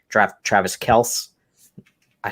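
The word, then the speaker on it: Kelce: if i do something different like draft travis kels i said it right travis kels in the first round that's going to be the hardest one i think that's the right way to say it right nate kelsey yeah yeah this sounds good i'm on the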